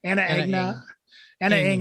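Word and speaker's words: Ana Ng: And what's the correct pronunciation of it? Is it Anna Ing? Yeah. Anna Ing.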